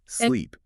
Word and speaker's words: sleep: But for the long E in sleep, you have to engage your facial muscles. You physically stretch your lips outward into a smile, raising your tongue higher in your mouth. Sleep.